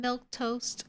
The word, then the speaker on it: Milquetoast: the raid winding down I am milk toast Claire that's how you say my name I stream Monday Wednesday